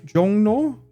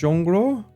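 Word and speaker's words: 종로: I'm hearing a lot of like Jong written Jongo. It's actually pronounced Jongro.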